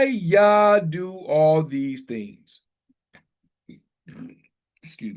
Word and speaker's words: Yah: It says Jah with a J, but it's actual, there's no J in the Hebrew alphabet, so it's actually Yah with a Y.